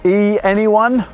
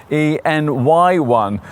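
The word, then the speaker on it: e:Ny1: company of innovation thank goodness so e anyone well actually this Honda's name is supposed to be pronounced en n y1 uh that acronym is probably a bit too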